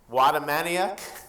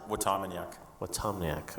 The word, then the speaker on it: Watamaniuk: we have uh Preston wadam Maniac not quite right but how do you say it Preston last name watak watak all right he's the